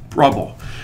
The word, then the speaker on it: Brubble: I have a site online called Brubble, which is basically trouble with a capital B, which rhymes with T, that you learned in school.